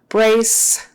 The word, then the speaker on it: brace: blood pressure sure okay brace the c e sounds like an S brace and don't forget to get the r in there instead of